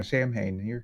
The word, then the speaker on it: Samhain: I don't know that I'm pronouncing that correctly. I'm sure it sounds cooler than how I'm saying it. No, Samhain, you're correct.